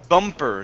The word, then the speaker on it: bumper: go to the word bumper so here we've got that challenge with the b and the p okay so bumper bumper good good one more